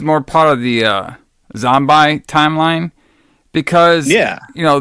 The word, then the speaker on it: Zombi: the the zombi and I say zombi because they they they don't they don't keep the E yeah it's supposed to be pronounced zombie but it's like it's like